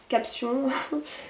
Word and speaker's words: Caption: vernis de la marque caption caption prononcé à la française donc ça c'est un vernis de marque américaine vernis gel longue tenue ultra pigmentée vendu 12 €.